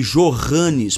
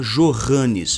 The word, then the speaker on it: Johannes: No alemão, o J corresponde ao Y. Tanto que no nome Johannes, por exemplo, você não pronuncia Johannes, você pronuncia Johannes em alemão, ou algo similar.